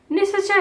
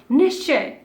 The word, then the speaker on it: निश्चय: निश्चय, निश्चय हम नहीं बोलते, that is a wrong pronunciation, हम बोलते हैं निश्चय।